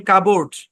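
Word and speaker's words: cupboard: একবার উচ্চারণ করে দিবেন আরো যেসব শব্দে পি সাইলেন্ট থাকবে যেমন কাবোর্ড রাসবেরি কু পোর এখানে এস টাও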